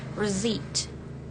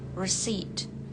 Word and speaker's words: receipt: Jadi langsung aja ke T-nya, P-nya enggak dibaca. Receipt. Receipt.